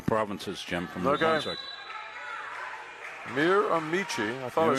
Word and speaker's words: Miramichi: Well, we got some pronunciation help coming in from the provinces, Jim, from New Brunswick. Miramichi.